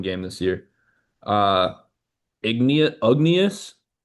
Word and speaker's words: Ugnius: Uh Ignie- Ugnius U G N I U S, Ugnius, I think is how it's pronounced. Jarosevicius, Jarosevicius, he's from Lithuania. way it's pronounced Ugnius.